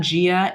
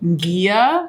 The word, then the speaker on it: Ghia: I was mispronouncing this it's not Gia it's Gia bonjour sharks my name is I'm the founder of Gia it's kind of like a French pronunciation it seemed like some